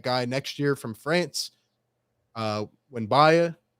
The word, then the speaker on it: Wembanyama: Wembanyama, I believe is how you pronounce his name, or he's got a crazy name.